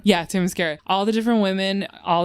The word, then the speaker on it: Themyscira: I loved seeing all of the women on Ready, how do you say the name of the island? Oh, you talking about Themyscira? Yeah, Themyscira.